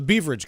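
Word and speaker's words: Beveridge: available to them is called the the baverage curve or the beverage curve it's been pronounced both ways I think bavage is the right one that's the one that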